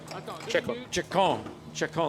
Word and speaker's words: Ceccon: And then Italian driver Kevin Ceccon, that's French maybe. It's a hard C and certainly Italian.